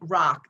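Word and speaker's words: Roch: that involves another Saint his name is Saint Rock that's spelled r-o-c-h he lived in the 12th and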